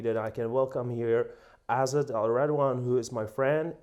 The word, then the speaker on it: Azzat: So if you wonder if the proper pronunciation is Azzat, but I'm used to hear it in the English form Azzat.